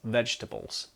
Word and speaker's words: vegetables: That second E, just drop it. It's vegetables, vegetables.